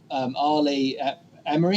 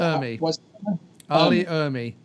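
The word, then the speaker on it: R. Lee Ermey: was a movie about Arlie Emery, is that how you pronounce it? Arlie Ermy.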